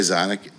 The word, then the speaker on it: Xonic: memorable most people say Sonic I honestly don't care as long as you remember it I mean I pronounced it exotic and that's what I like I actually say that like sonic sonic um I was